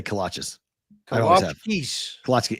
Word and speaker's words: kolache: Kalachkis. kolaches. I say kolaches. I always have. Kalachkis. Kolache. It's Eastern European. I know what it is. It's over there. I say kolaches because Texas people say kolaches.